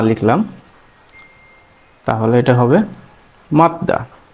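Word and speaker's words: 맞다: এখন জিউত যদি কখনো নিচে যায় তাহলে কি হবে? সে ত হবে।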